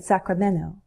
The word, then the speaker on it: Sacramento: speakers say Salem Oregon Sacramento California a Golden State we can drop the T in Sacramento Sacramento can become Sacramento